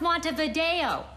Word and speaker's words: Montevideo: capital bureau of ways Monday the grill it's pronounced Montevideo lots of but the debate I wanted to